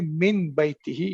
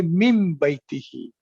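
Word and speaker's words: من بيته: comes after that, so instead of that you will not say min baytihi, you will say mim baytihi.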